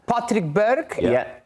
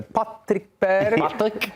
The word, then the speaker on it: Patrick Berg: Patrick Berg. That is how That is how you say it in there. Patrick Berg.